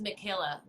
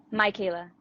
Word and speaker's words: Micaela: I always thought it was Michaela. How do you say it? Micaela.